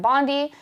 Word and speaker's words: Bondi: The order directs the Federal Trade Commission or the FTC to work with Attorney General Pam Bondi uh or Bundy I think is how it's pronounced to ensure competition laws are enforced in the concert and entertainment industry.